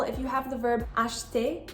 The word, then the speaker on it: acheter: For example, if you have the verb acheter, you're not going to say acheter. You just say acheter, as if the E isn't there.